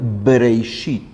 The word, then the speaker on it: Bereshit: Y la pronunciación de Breishit es justo la pronunciación labial, Breishit.